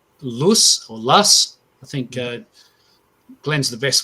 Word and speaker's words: loess: And it's called Lus, I think Glenn's the best one to pronounce that for us, but it's called loess.